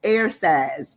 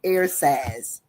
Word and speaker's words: ersatz: Today, our word is ERSATZ. It sounds like air and saz, but it's spelled ERSATZ, ERSATZ.